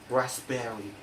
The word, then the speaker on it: raspberry: psychic, psychic, psychology, psychology, psychotherapy, psychotherapy, psychotic, psychotic, raspberry, raspberry. And that's all my explanation about silent letters.